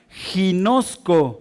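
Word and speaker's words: γινώσκω: Conocimiento que viene de un vocablo griego que se pronuncia como ginosco con g de gato.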